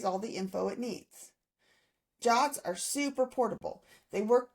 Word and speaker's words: JWT: JWT stands for JSON web token and it's pronounced Jot.